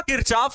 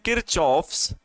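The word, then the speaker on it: Kirchhoff: कहीं-कहीं पर बच्चों आपकी बुक में हो सकता है लिखा होगा किरकहाफ। ऐसा भी लिखा होगा। किरकहाफ। ठीक है? किरकहाफ या किरचाफ के नियम मतलब उसे किरचाफ भी बोला जाता है। हिंदी उच्चारण कभी-कभी बच्चों अलग-अलग हो जाता है। कभी-कभी हिंदी उच्चारण अलग हो जाता है। इंग्लिश में इसे बोलते हैं किचॉफ्स। किरचॉफ्स लॉ। किरचॉफ्स लॉ।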